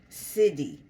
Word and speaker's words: Siddhi: be doing this, so SIDDHI. Ah, yoga, a miraculous power imparted by the late stages of intense meditation. Buddhism, any occult power acquired through discipline. That's interesting. Siddhi, that's how you say it, Siddhi.